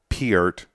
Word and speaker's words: Neil Peart: to do what Neil Peart was doing Neil was peer-to-peer it rhymes with nerd you know YYZ with